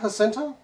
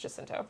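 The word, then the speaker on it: Jacinto: going to be there wait it's not hinto not to my knowledge and I might be I've always heard it pronounced jinto okay I don't know that I've ever heard him say his own last name but I've always heard jento for him specifically if you watch anything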